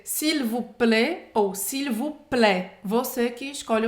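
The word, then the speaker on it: s'il vous plaît: final do Lego fundo do le sirvo Player sivuplê esse I com acento circunflexo lê e a mesma pronúncia e lhe sirvo pra você não vai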